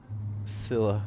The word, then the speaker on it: Scylla: You can go and see it They if you're pronounced interested. it Scylla.